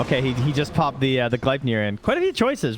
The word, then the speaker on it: Gleipnir: That's just how you say it. If you don't say it, you got to call from Ice Frog. He's like, Aegis and Gleipnir. You got to phlegm it out.